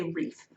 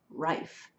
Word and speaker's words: Rife: have a clause rife I was once a wreath but they say it rhymes with good life rife so from rife winery